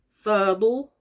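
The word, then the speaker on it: ث: 요 싸 경우에는 발음이 영어의 thank you 할 때처럼 번데기 발음이죠. thank you 할 때 혀가 양 이 사이로 나와서 내는 발음. 싸 이런 식으로요. 그래서 발음부호는 th 발음.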